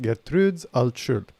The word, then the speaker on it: Gertrudes Altschul: it right uh alt-shirt i think her name is pronounced gettrudes alt-shirt gertrude's also that's how i